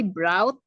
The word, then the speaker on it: brought: Jadi GH-nya nggak dibaca. They brought me Brought.